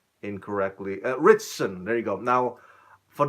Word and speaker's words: Ritchson: get let me see my notes here Alan Richards Richards trying to get that pronounced incorrectly here I don't want to butcher his name incorrectly Ritchson there you go now for those of us